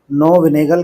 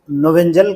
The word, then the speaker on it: Knoevenagel: में पढ़ने वाले हैं हम इसको नोवल प्रोनाउंस करेंगे correct pronunciation I don't नो whether it नोवल और नो विनेगर बट लोग दोनों तरह से प्रोनाउंस करते some people are calling it नोवल and some are calling नो विनेगर condensation तो चलिए स्टार्ट करते